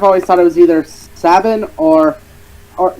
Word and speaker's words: Sabin: I don't know why Sabin I say Sabin because it sounds like satin I don't know I've always thought like if I can interject I've always thought it was either Sabin or or say I've